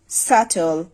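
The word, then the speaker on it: subtle: That means সেই বি উচ্চারিত হয় না। যেমন আমরা যদি কিছু ওয়ার্ড দেখি doubt সাটল ইনডেটিড dot doubt সাটল ইনডেড that means এই যে ওয়ার্ডগুলো আছে প্রতিটিতেই কিন্তু বি এর পরে আছে দট মিন্স এর আগে যে বি সেটা আমরা উচ্চারণ করবো না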